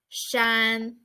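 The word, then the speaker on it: 山: if you are done the first word is Shan Shan it means that mountain the second word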